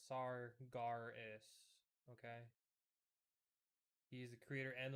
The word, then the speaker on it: Sargeras: yeah, he was Sargeras actually pronounced Sargaris.